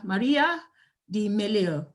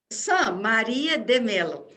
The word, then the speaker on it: Maria de Mello: here our next speaker maria the meleo did you pronounce that right maria de melo okay okay thank you